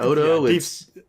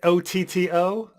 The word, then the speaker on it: Otto: nine on the brain it's not odo auto isn't it isn't it otto yes i have a